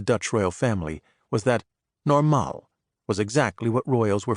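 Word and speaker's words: normaal: state of being that the Dutch referred to as normal with the accent on the second syllable.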